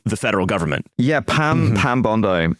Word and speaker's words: Bondi: Yeah, Pam Bondi. I pronounce it like the beach, and I probably shouldn't.